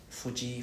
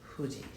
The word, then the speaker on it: Fuji: understand good right so remember there's no f sound in Japanese so don't pronounce fu fuji fuji huji next is he h E sound.